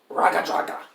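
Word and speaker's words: Raggadragga: And the name tag says Ragadraga.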